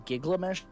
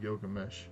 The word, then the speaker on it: Gilgamesh: And then he sits there in Giglamesh. That's my favorite pronunciation of Gilgamesh.